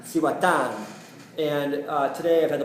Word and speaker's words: Cihuatán: How do you pronounce it? Cihuatán. Cihuatán.